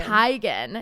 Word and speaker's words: Teigen: um John Legend's wife Christy Teigen apparently it's oh yeah I knew this I knew this is Chrissy Teigen tygan yeah and then um